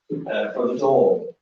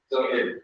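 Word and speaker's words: Dún Laoghaire: for the door. Is it for the door? That here. Ah, for Dunleary. That's Larry, okay.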